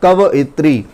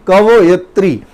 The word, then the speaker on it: कवयित्री: है और वो है कवयित्री। कवयित्री नहीं, कवयित्री नहीं, कवयित्री, ठीक है। प्रोनाउंसिएशन ठीक से करिए तो बात समझ में आ जाएगी, कवयित्री।